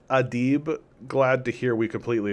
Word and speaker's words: Adib: You write, pronounced Adib.